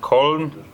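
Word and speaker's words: Köln: sounds so French, and in German pronounced Koln, but in English we still pronounce the French way, Cologne.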